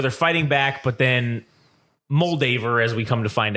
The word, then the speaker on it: Moldaver: m moldaver Lee moldaver it was like Madura like that no it's moldaver that's her name no that the way they said in the show was different no it's moldaver that's how it's said it's you're not going